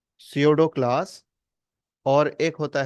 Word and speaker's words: pseudo: जिसको हम कहते हैं सीडो ठीक है यहां पर उसको लिखते कैसे हैं पी एस ई यू डीओ डीओ है ना लेकिन इसको पढ़ेंगे क्या हम सीडो पी इसका साइलेंट है ठीक है तो यहां